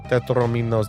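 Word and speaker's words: tetrominoes: Tetrominos should be pronounced like dominoes. Tetrominos, dominos, tetrominos.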